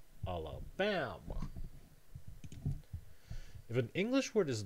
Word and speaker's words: Alabama: So in this word, Alabama, the stress syllable is the penultimate syllable, the one that's before the last one, Alabama.